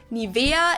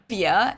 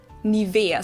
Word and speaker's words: Nivea: Nivea. In German, we say Nivea. Nivea. So the emphasis is on the E.